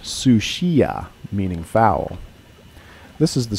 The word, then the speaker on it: Sucia: the north that inspired the Spanish name correctly pronounced sushia meaning foul this is the straight of Georgia